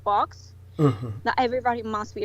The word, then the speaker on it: Vox: you're speaking of is spelled VOX, like Vox as the Latin word for voice, correct?